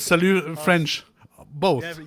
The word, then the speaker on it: salut: But it's salut. It's not salute, right? Yeah, it's salut. Or is it salut from the Switzerland? No, it's salut French.